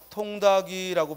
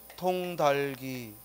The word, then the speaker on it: 통닭이: 그걸 절음 법칙이라고 한다 자 여기 통이라는 말에 그죠 뒤에이가 오면 통다이라고 우리가 발음하기 쉽지만 이제 공부했으니까 공부했으니까 통다이라고 발음하면 안 되고 어떻게 발음해야 돼 통 달기 왜 뒤에 오는 말이 형식 형태에서 오면 겹받침의 뒤에게 그냥 첫소리로 가면 되는 거야 알겠죠음 그래서 통닭이 아니라 통달이 발음을 하는 거죠 자 다음 이제 동화현상